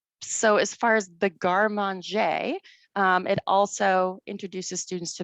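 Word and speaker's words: garde manger: art of and um i'm told this is pronounced and garman jay and i can i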